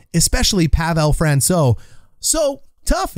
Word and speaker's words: Pavel: ends up going in i said it wrong everyone's telling me just say pavel look there's three things